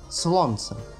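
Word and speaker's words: słońce: «Слонце». «Слонце». Видите, тоже буква «л» и «в» тоже здесь проскакивает буква «в».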